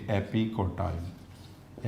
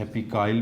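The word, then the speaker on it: epicotyl: जो इसके बिलो होगा इसको कहेंगे हाइपोकोटाइल, और जो इसके अबव होगा इसको कहेंगे एपिकोटाइल। एपिकाइल भी पढ़ते हैं कुछ जगहों पे, वो टी साइलेंट।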